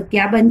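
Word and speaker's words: cube: कर देते हैं तो क्या बन जाता है? सी यू बी ई क्यूब, सी यू बी ई क्यूब। पर ई का प्रोनाउंसिएशन हम अलग से नहीं करते हैं, इसलिए इसको क्या बोलते हैं?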